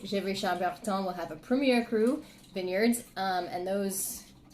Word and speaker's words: premier: says 1er which is Premier Well it's actually Premier not Premier but you'll hear it mispronounced a lot so Premier crew um and